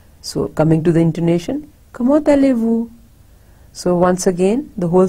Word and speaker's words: comment allez-vous: So we say, comment allez-vous? So remember, T is pronounced like te, and it is joined with aller.